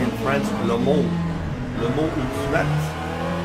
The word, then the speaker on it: Le Mans: So LMU, Le Mans Ultimate, or as they say in France, Le Mans. Le Mans Ultimate. Le Mans is how you pronounce it in French.